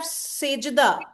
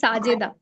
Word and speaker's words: Sajida: Okay, so let's have Sejida. Sejida, I hope I'm pronouncing your name properly. Yeah, my name is Sajida. Sajida. Oh, okay. S-A. Right, Sajida.